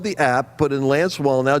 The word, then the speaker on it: Wallnau: app put in Lance wall now w-a-l-l-n-a-u pronounced wall now like build the wall now and you put you